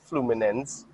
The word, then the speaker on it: Fluminense: So how you pronounce it? Fluminense.